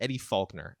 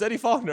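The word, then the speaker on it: Eddie Faulkner: gotta get his name I want to say his name is Eddie fuler I I that's I could be wrong is it Eddie fuler let's go it's Eddie fogner okay so am I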